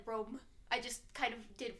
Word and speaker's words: Rome: he kept saying Roma, and the dude's like, no, it's Rome, and then he goes, Rome, and like super emphasizes it to be like, I'm saying it right. I don't know, it's funny because, like, Roma is how you would say it if you're from Italy.